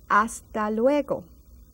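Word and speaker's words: hasta luego: practice of our greetings see you later aalo that age is silent say it with me aalo see you later till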